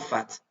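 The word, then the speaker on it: فتح: Wal fath. Kita ulang bacanya. Idza jaa nasrullahi wal fath. Fath. Fath. Di ujungnya ada H. F-A-T-H. Fath.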